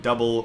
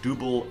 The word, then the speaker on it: Dubbel: Anyway, today we're making a Belgian Dubbel, or I think it might also be pronounced Belgian Dubbel. It depends on who you ask, because I have had pros tell me either one.